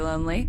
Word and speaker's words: Lonlée: Lonely. Yeah. I mean, I'm not going to be rude. Wait, is your last name pronounced lonely? Yeah.